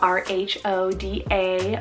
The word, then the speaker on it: Rhoda: fun means beaver stream or meadow rhoda spell r-h-o-d-a rhoda this one means rose gertie spelt g-e-r-t-i-e